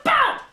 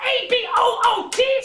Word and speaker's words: about: It's about A-B-O-U-T, not A-B-O-O-T! Stop saying a boot! This is a boot! That is about.